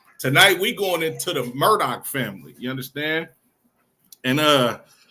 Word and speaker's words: Murdaugh: I seen the spelling thought I was pronouncing this wrong too but it's actually the Murdoch family but not be not